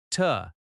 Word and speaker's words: to: The word to can sound like ta. "I needa go ta this address." That reduction is common, but you do not need to force it.